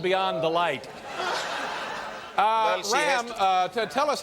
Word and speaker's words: Ram: My name is Ram. Ray? You're saying Ray? No, Ram. Ram, spell that for me.